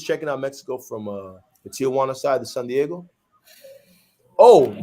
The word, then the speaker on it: Tijuana: I usually was checking out Mexico from the Tijuana side, the San Diego.